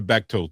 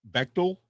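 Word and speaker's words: Bechdel: That's I feel like you're not pronouncing it right. I I'm probably not. I'm Hispanic. Excuse me. Uh Yeah, it's beel bechal.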